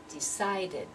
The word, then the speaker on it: decided: one tip two syllables your decide is already two syllables so now when I pronounce it with the IDI ending I have to have three syllables there decided so we've got sounded